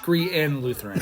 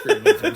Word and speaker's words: Crean Lutheran: It's actually pronounced Crean Lutheran, not Crean Lutheran.